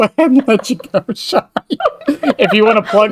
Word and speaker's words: Chey: It is pronounced Chey, even though it doesn't look like it. It's short for Cheyenne, if that helps.